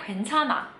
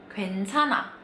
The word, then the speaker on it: 괜찮아: Dan pada saat dia ketemu huruf vokal, H-nya lagi-lagi dibacanya kayak antara ada dan tiada. Jadinya 괜찮아. 괜찮아. Lebih mirip kayak N doang aja.